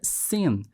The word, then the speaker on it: sin: Mas também a palavra pecado em inglês se pronuncia sin, S-I-N.